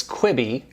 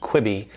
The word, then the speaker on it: Quibi: may have heard about the new streaming service kwibi q UI bi that's how it's pronounced kwibi it's a new streaming service specifically for your